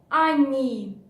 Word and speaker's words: они: And они. Они, the first O we pronounce like A.